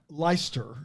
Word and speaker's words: Leicester: that the driver of the week the lake Hester Square how would you say that uh leister leister yeah yeah that's that's now that I